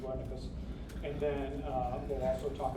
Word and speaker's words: Wernicke: We'll talk about Wernicke's or Wernicke's. The Germans pronounce it Wernicke's.